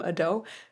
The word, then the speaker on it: Ado: Okay, this artist is Ado. I've been told that that's how to pronounce the name, Ado.